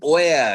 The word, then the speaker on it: ware: Who gave his ওয়ার, এই বানানটা দেখো, WARE, একটু নতুন ধরনের শব্দ, লিখে রাখো, WARE।